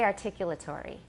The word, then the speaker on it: articulatory: we say articulatory so how many syllables do I have articulatory is six and how many does my British teacher have articulate rate he has five the last one is sort of a semi syllable articulate articulate tree tree it's not really tree it's turi there's a